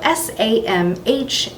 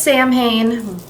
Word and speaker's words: Samhain: It's spelled S-A-M-H-A-I-N. So it looks like it says Samhain, but it's a Celtic word and it's actually pronounced Samhain.